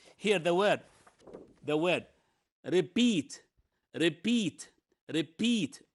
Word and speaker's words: repeat: the word okay here the word the word repeat repeat repeat it's a verb because the syllable here the stress is in the second